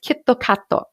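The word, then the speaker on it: キットカット: me for years kitkat which is pronounced in japanese as kittokato is easily the most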